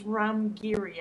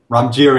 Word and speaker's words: Ram Giri: all I want to apologize for saying your name wrong it's Ram giri actually so this is this is the session I've been called I've been called all kinds of things so Ramer is mild well R let's put